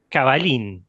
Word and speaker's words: Cavallin: Bueno, estamos con FedEx Caballín o Cabalín, ¿cómo cómo es tu apellido? ¿Cómo se pronuncia? Cabalín. ¿De dónde? Es italiano, pero bueno, se escribe cabalzin con dos L, pero se pronuncia con una.